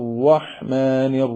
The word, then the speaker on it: الرحمن: നിഷ്ഫലമായി പോകുന്ന തെറ്റുകളാണ് അത് രണ്ടാമത് റയിൽ തന്നെ റഹ്മാനി എന്ന് റൊട്ടി എന്ന് പറയുന്ന ഒകാരത്തിലോട്ട് പോകുന്നുണ്ട് അതും ശരിയല്ല മൂന്നാമതായിട്ട് റാഇന്റെ ഉച്ചാരണത്തിൽ ഴ ആയി